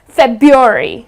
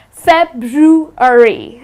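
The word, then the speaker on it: February: it incorrectly the well the way they pronounce it is febuary they tend to drop the are but that's incorrect the correct pronunciation of this month is fat drew hurry okay so it's something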